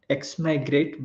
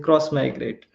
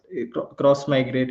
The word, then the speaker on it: Xmigrate: will have that question so everyone tend to pronounce this tool uh as it is written x migrate but it is not how it should be pronounced like it is a cross migrate because the name should implies what it does